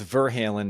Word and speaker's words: Verhalen: And that's Verhalen, not Van Halen, which I accidentally typed 7 times today. It's spelled almost the same, and it wants to autocorrect almost every time, letting people know that it's VER.